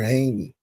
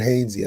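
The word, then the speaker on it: Hainsey: uh guy we interviewed Robert Haney is that his name all right Robert haynesey I thought I said it right I feel bad for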